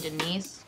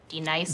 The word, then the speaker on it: D-Nice: Do you mean Denise? Son of a bitch! You say your name right, right now. Denise? Say it right. Denise. Correctly. Denise. White. Denise. White. D-Nice. That's better.